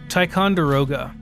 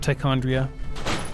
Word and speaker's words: Ticonderoga: hightower's place ticondrya yeah how do you say it kaitondero ticonderoga okay not tichondria what's tychondria is that